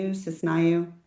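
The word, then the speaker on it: Synesiou: I say her name wrong all the time, but it's Cisnayu. It's really hard to pronounce.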